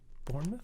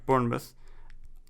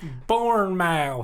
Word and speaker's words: Bournemouth: i just looked it up how do you pronounce it let's see if i can bournemouth yeah bournemouth but if you said that i have literally